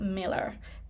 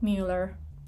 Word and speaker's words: Mueller: Austin the domain and Miller not Mueller it's spelled Mueller and it's pronounced Miller in other words public